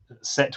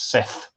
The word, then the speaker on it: Set: those names set um set with an H which we would pronounce as Seth but the Egyptians had no th sound as far as we know so um set with